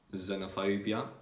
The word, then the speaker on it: xenophobia: x when let's say x is at the beginning of the word so for example in xenophobia or xylophony you can find the letter x or in xenon the letter x is pronounced like as that so the th